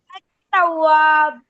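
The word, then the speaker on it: التواب: जी मोहित Ali ma'am अ तवाब अ तवाब अब यहां पे हमने एल को साइलेंट कर दिया एल को फिर एल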